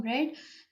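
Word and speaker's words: read: अच्छा, रेड, ये जो रीड के बारे में, रीड की फॉर्म्स जो होती हैं, रीड, रेड, रेड, इनके स्पेलिंग तो सेम होते हैं लेकिन इनकी प्रोनाउंसिएशन डिफरेंट होती है, तो यहाँ पे हम लोगों ने इसकी थर्ड फॉर्म लगाई है रेड।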